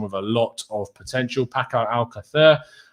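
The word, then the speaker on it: Paco Alcácer: a lot of potential paco al qaeda uh or pacquiao alcatha um if you want to get proper pronunciation is obviously someone that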